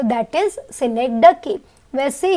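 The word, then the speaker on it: synecdoche: Students ना इसके pronunciation बहुत गलत करते, याद रखना इसका प्रोनाउंसिएशन इज सिनेक्डकी।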